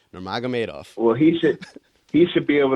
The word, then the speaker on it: Nurmagomedov: How you pronounce his last name? Nurmagomedov. And I'm so glad that I finally learned to say that. Nurmagomedov.